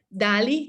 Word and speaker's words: DALL-E: inteligencia artificial, que es DALL-E, se llama. DALL-E, que se escribe D-A-L-L y luego separado E, así como el robot Wall-E.